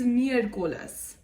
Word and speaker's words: miércoles: Wednesday is miércoles.